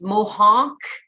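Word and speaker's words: Mohonk: have an accent maybe but it's Mohawk uh Hawk m o h o n k and I'm going to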